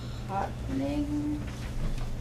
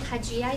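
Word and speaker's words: Haxhiaj: Hotning. I will pronounce it for you. Thank you. Sure. It is Hajijaj, that's spelled H-A-X-H-I-A-J.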